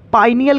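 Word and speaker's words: pineal: एक पायनियल ग्लैंड मिलेगी कौन सी पायनियल यस हमको लगा पायनियर मिलेगा नहीं नहीं पायनियल उसके कोई कोई पीनियल बोल देता है सबका अलग स्पेलिंग देख लेना पीनियल होता है ठीक है बेटा पीनियल भी बोल सकते हो आप चलो बोलो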